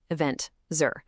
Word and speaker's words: Aventzar: To see exactly why, we rely on data from Aventzar, that's pronounced event Zur, which uses a 12dimension methodology to measure exactly how eventful a place really is.